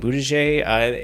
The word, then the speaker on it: Buttigieg: Buttigieg, in the corporate woke sphere.